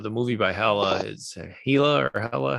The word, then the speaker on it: Hela: Is Hela or Hela, how do you Hella. Yeah. pronounce that? Uh Hela, yep.